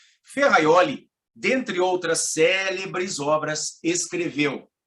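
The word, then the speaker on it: Ferrajoli: ou gênio italiano Luigi ferraioli Você conhece ferraioli Você já leu ferraioli se escreve a High Jolie e pronúncia Luigi ferraioli dentre outra cérebro sobras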